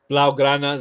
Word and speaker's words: Blaugrana: Is it Blagar? How do you say your channel's name? I was trying to say it earlier. Blaugrana Zone.